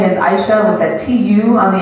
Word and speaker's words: Aisha: It's Aisha. Two syllables.